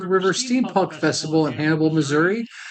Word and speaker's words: Missouri: actually got pushed out he believes that it's pronounced Missour it's not Missour it's Missouri just we were just